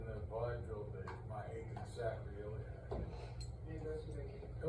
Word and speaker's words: sacroiliac: It's pronounced sacroiliac.